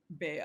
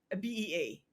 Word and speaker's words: Bea: Bea, Yes. and in the Philippines, because it's Beatrice, it's Bea. It's Bea. Yeah. Yeah, but in the In the States, States, it's B, it's B.